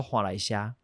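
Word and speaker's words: 岸里社: 伊正式较接近伊的发音，做华来社。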